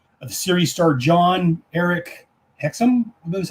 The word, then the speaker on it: Hexum: The series starred John Eric Hexum, I believe is how it's pronounced, and Mino Palucci.